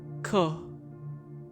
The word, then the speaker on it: Ko: creation of the universe echo pronounced as ko is a natural mini